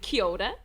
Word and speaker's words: kia ora: So when I greeted you before, I said kia ora. And you were like, what did you just say? That was very good. Beautiful pronunciation.